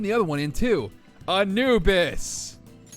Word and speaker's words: Anubis: Anubis. 3 syllables.